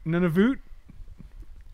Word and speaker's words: Nunavut: UT is pronounced Oot Nunavut.